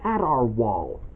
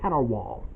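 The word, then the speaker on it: Cat R. Waul: just that I pointed out to you it's pronounced catar wall not a wall the cat or our wall of the cat it's just cater wall they got some members and that's Archbold Snatcher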